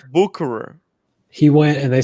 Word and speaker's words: Bucherer: He did say he went to Bucherer or Mm-hmm. Boucherer, I guess is how they pronounce it. Yeah. I refuse to say Boucherer. And yeah, Bucherer.